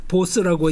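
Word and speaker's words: Bose: 보스입니다 그래서 알아두시면 괜찮습니다 저 이름이 인도 이름이고 뱅갈 이름이고 보스라고 읽는게 맞다 자 그러면 우리 이제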